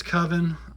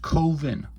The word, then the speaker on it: Coven: don't know anyway that's coven uh 3 through six it's pronounced koven coven that's like oven never mind that's from